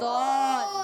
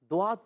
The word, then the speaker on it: ضاد: اچھا، بعض بچے اس کو ضاد پڑھ دیتے ہیں، دعات پڑھ دیتے ہیں، دعاد پڑھ دیتے ہیں، غواد پڑھ دیتے ہیں. یہ نہیں پڑھنا آپ نے صحیح تلفظ پڑھنا ہے.